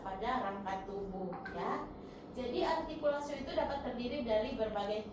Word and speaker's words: artikulasio: Definisi artikulasio. Coba sebutkan artikulasio, bukan articulatio ya untuk membacanya. Coba Uci dibaca. Artikulasio. Oke, bagus. Jadi jangan dibaca articulatio ya.